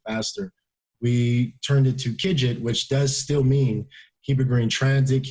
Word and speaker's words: KIGT: kids all last access videos and it's actually pronounced kidget because in the early days when we were